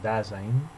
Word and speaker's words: Dasein: Esta palabra, que se escribe Dasein y se pronuncia en alemán Dasein, no la emplea Heidegger por casualidad.